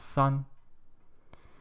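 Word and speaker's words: 三: And I forgot to tell you how to pronounce number 3 in Chinese. It's called san.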